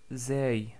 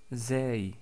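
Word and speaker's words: زاي: Ensuite, nous avons vu la lettre Zay, Zay, qui est facile à prononcer parce que c'est l'équivalent de la lettre Z en français, comme dans le mot Zaytounatun ou Zaytouna tout court.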